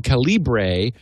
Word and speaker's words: Calibre: play around with Calibre, which I was pronouncing Calibre, but Elaine informed me that she did the research and it really was Calibre.